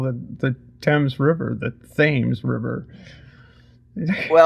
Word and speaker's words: Thames: Like, there's the street that runs along the waterfront in Newport, Rhode Island, is called Thames Street, not Thames. Thames.